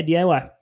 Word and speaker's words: DIY: Yeah, DIY.